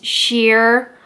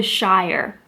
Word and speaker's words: Shire: Another one that I had trouble with is sheer or shire. So I love Lord of the Rings. Love Lord of the Rings. And the hobbits are from the Shire. S-H-I-R-E, Shire. And that's how they say it in the movie. So when I see that word, I think Shire.